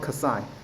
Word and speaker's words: xi: Oh yeah, it's called Kasai.